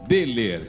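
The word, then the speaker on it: Döhler: Por isso que eu digo sempre, quem ama, cuida com Dehler. Se escreve assim, D-O-H-L-R, mas se pronuncia Dehler.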